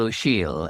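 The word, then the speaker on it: Ó Siadhail: is a poet, Micheál O'Shiel, an Irish poet, now living in New York, actually. And he's spelt, by the way, O''Siadhail, which nobody could guess from the pronunciation.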